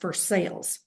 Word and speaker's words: Versailles: If you're not from here, you might pronounce that differently, but in Kentucky, it's pronounced Versailles.